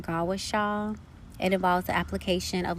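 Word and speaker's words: gua sha: a form of traditional Chinese medicine it's called gusa which is pronounced gaasa it involves the application of lubrication such as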